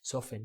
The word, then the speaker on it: soften: Soften, notice that the T is not pronounced. Okay, like listen, you don't pronounce the T. Listen, soften. Depending on that, you've just